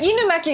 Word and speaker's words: Inumaki: Yeah, Inumaki is the correct pronunciation, but in English, would they say Inumaki? See, but Inumaki is how you pronounce it because you watch anime.